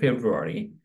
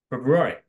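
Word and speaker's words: February: এরপর আছে ফেব্রুয়ারি, মানে আমরা যেভাবে করি নর্মালি, কিন্তু এর সঠিক উচ্চারণ হচ্ছে ফেব্রুয়ারি।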